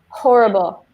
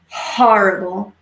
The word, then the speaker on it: horrible: the opposite skies and careful with your pronunciation of horrible need the H horrible yeah when you see that H you really want to feel your breath on your hand horrible good mu K they